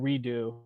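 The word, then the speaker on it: redoux: for it this one's called deja vu redo but it's spelled in a french kind of way r-e-d-o-u-x redux i think many times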